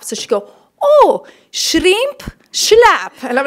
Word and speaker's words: Schlapp: Cubans, they were like, so is it Schlapp? Because they can't do the sh sound. And I was like, no, Mom, it's Schlapp. So she'd go, oh, shrimp, Schlapp.